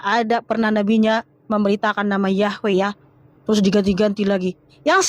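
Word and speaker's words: Yahweh: Memang secara linguistik Yahwe itu ya yod heave yang pelafalannya Yahwe berangkat dari kata semitik he y he yang dibaca hayah ya.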